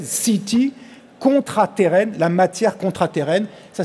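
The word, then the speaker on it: seetee: peut contrôler et utiliser la CETE, S-E-E-T-E-E, comme C-T prononcé à l'anglaise, CETE, contraterrène, la matière contraterrène.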